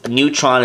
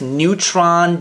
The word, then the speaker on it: Newtron: change color I guess Neutron just uh flow a little easier because it only has two syllables and on top of that it sounds like Neutron the fundamental particle so I guess Dr